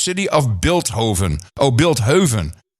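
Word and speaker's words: Bilthoven: of Bilt Hoven oh Bilt Hoven oh he want build Haven he that's a very Posh pronunciation it's Beethoven but that's how you pronounce it in built Heaven it's a kind of a you know uh uppity sure Hills from the Dutch city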